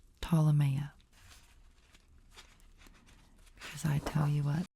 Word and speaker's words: Ptolemaea: Again, for those who don't know, it's pronounced Ptolemaea, like Ptolemy, who it's named after. Ptolemaea.